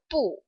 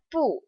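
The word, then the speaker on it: 不: it's paired with so po normally is a fourth tone but when it directly precedes another fourth tone then po takes on the second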